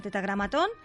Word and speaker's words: tetragramatón: Es un tema apasionante, el tetragramatón, que acaba en atón, curioso. Sí, con acento en la O.